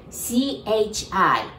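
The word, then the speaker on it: ち: too the second one Chi it's really t i and T sound but we pronounce that like c-h-i Chi and also the one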